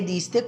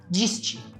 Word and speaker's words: diste: eu deixei em evidência, se eu não soubesse a pronúncia das letras D e da letra T em espanhol, com certeza eu iria dizer diste, certo? Diste. Mas a pronúncia correta dessa palavra é diste. Letra D com som de D mesmo e letra T também com som de T mesmo. Não diste, e sim diste.